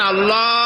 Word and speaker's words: আল্লাহ: হয় না কেউ বলে না আল্লাহ আল্লাহ পাকের উচ্চারণটা হচ্ছে আল্লাহ পাকের নাম হচ্ছে আল্লাহ মুখটা একটু গোল হয়ে যাবে বলেন আল্লাহ আল্লাহ পৃথিবীতে বিভিন্ন জাতি তার স্রষ্টাকে তারা